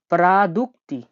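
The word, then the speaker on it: продукты: প্রাদুক্তি। প্রাদুক্তি মানে হলো মুদি দোকান। আমি রাশিয়ানটা ভেঙে দিচ্ছি দেখুন। এটা PRA, প্রা, DUK, দুক, TY, প্রাদুক্তি।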